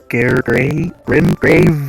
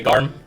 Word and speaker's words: Garm: Grave Wolf? No? Damn it. Can you say garment for me? Garment. Okay, now say garm.